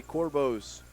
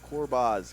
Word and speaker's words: Corbaz: It will be Corbo's. Well, Corbaz, excuse me.